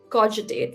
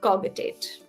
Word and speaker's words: cogitate: But the only thing is cog is g and coitate is j. So the right way to pronounce this is coitate, not cogitate.